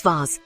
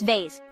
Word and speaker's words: vase: Americans say schedule face in Britain it's vas while in America it's vase interesting isn't it these